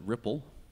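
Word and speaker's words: RPL: what is it again the routing protocol for LLNS we pronounce it ripple and as I said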